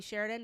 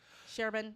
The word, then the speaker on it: Sherban: That's not happened, Bobby Sheridan. It's not gonna. Sherban. Sure. I always say your name wrong.